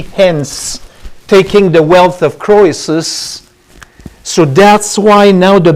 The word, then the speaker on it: Croesus: We say Croesus. The E is very. Oh, so, The emphasis is on the okay. Croesus. Yeah, the Germans still use that OE sounds like an A almost.